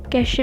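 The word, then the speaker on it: cache: कैशे memory को pronounced किया जाता है कैश से, CASH कैश।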